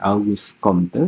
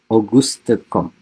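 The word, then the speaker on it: Auguste Comte: Augustom ya dibacanya bukan Augus Komte tapi Augustom.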